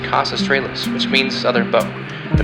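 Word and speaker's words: Kaus Australis: The brightest star in Sagittarius is pronounced Cas Australis, which means southern bow.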